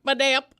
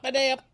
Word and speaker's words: Badayup: The only thing that matters is that the phonetic emphasis is on the middle syllable. Ba-day-up. Badea. But there is a P. Yes, that's correct. Yeah. At the end. Ba-day-up.